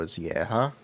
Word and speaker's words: Zieja: So I actually met Joe Zieja. That's how it's pronounced.